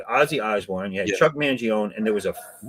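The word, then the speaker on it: Mangione: Uh if you say his name right, Chuck Manion. No. More people might recognize you, but you know him. Well, I called him Chuck Manion. You know, he is silent.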